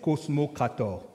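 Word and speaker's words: kosmokrator: a les exou les cosmocrat comme ça se prononce k k o s m o k R a T o R cosmocrator et nous avons la 4è catégorie qui sont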